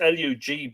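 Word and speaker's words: Louth: l eu father lu pronounced l-o-o as in the toilet but lou has nothing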